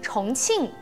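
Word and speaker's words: 重庆: 、重逢，还有地名重庆，在中国的四川省。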